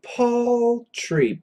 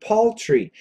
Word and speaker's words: paltry: that before dollars the dollars poultry get that pronunciation poultry it's an aw Paul tree paltry p a l t r y poultry poultry